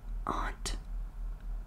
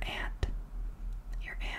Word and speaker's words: aunt: So, sister, or your mom's sister, is your aunt, or your aunt, or your aunt, your auntie, or your auntie. I'd say aunt. I think aunt. That's just like what it looks like to me. It's spelled like aunt, but some people say aunt. I might have used to say aunt.